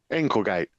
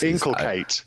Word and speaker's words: inculcate: Inklegate. Inklegate. Oh, it's Kate, not gate. My accent is inculcate.